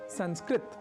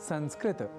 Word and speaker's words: संस्कृत: इसलिए हमें संस्कृत को संस्कृत न कहकर संस्कृत यानी त अर्थात तकार के बाद अ या आकार के प्रयोग के साथ उच्चारित करना चाहिए।